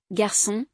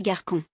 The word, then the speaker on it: garçon: par exemple poisson assiette le CCD il remplace le C devant A o et U pour éviter le son K par exemple garçon sans sédill on dirait Garcon voici Les graphiques qui trompent tout le monde.